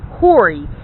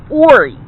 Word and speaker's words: Horry: it is not pronounced hori it is pronounced ori there is no h in pronunciation okay what i looked